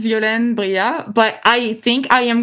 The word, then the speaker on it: Violaine Briat: Uh it's pronounced violin bria, but I think I am going to rebrand